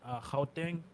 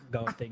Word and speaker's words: Gauteng: Gauteng. It's not pronounced Gauteng.